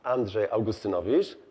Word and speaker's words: Andrzej Augustynowicz: it's my pleasure to present the next speaker andre agustanavish did i pronounce it correctly yes okay good morning all and thank you for coming to my session my name is andre augustinovic and i'm here to talk to you about